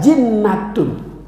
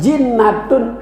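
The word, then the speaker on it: جِنَّة: di sini atau wujud kalau bacanya junnatun itu artinya benteng kalau bacanya jannatun sama hurufnya beda harokat ada junnatun ada jannatun ada jinnatun kalau jannatun surga kalau junnatun benteng kalau jinnatun itu yang ada di pemakaman apa namanya iya maka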